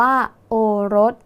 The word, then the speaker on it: โอรส: กัน อีก ครั้ง นะ คะ โอรส อ่าน ว่า โอรส ดู ครั้ง แรก ก่อน นะ คะ คำ ว่า โอ้ ไม่ มี ตัว สะกด ดัง นั้น อยู่ ใน แม่ ก กา